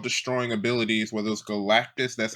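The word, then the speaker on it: Galactus: these excellent world destroying abilities whether it was Galactis that's how you pronounce the name that depressed dude and thunderbolt and Kang and everybody else.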